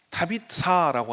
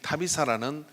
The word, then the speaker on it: 다비다: 그러나 오늘 본문에서 우리가 언급했던 이 다비다라고 하는, 정확하게는 타비사라고 하는 발음인데, 이 타비사라는 여인의 헌신은 좀 다른 색깔을 우리에게 가지고 있고 오늘 이 시대에 우리에게 주는 그런 의미가 있는 것 같습니다.